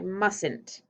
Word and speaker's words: mustn't: wasn't tricky to spell the tricky part's the pronunciation how do we say it i mustn't that's right i mustn't that's a silent t right there okay here's your next